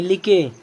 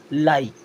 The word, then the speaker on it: like: चलिए अब यहाँ भी LIKE क्या पढ़ेंगे, लिके, बिके, हिके, निके, नहीं ये बिल्कुल गलत है। अब इसे पढ़ना क्या है, अगर आई है और लास्ट में क्या है ई आ रहा है तब भी उसका उच्चारण पूरे आई की तरह ही करना है।